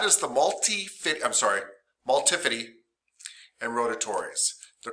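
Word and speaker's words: multifidus: school student once who goes that sounds like uh multi-fitty and so we all started saying multi-fitty because it sounded like 50 cent and that was really cool for a whole year of high school and now i can no longer say them correctly um but it's multipity and rotatorys anyway what's cool about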